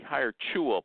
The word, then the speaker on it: Hiretual: Apparently, it's supposed to be hire chew-all, but I don't pronounce it that way.